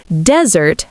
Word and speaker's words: desert: Desert has first syllable stress, dessert has second syllable stress, but sweet food and abandonment sound the same when spoken.